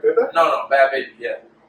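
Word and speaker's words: Bhad Bhabie: No, Bad Baby. Yeah. So it's Bad Baby, not Bad Barbie? No, Bad Baby.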